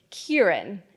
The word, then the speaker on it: Kiran: my name perfectly k for as long as I can remember I've pronounced my name Kieran and if I'm honest the reason for that is simply to increase the odds that white people could repeat it back to me admittedly even when I'm